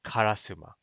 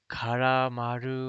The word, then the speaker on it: Karasuma: It's called Karasuma. And even Japanese people were just pronounced this right. They would call it like, what would they call it, man? They'd call it like Karamaru or something like that, or something like that.